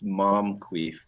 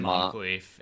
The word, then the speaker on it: Moncrief: It's Mom. I think it's Momqueef, Brian. It is Moncrief. It's actually how it's pronounced.